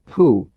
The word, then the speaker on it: hu: Hu, pronounced like hu, which is associated with the spleen.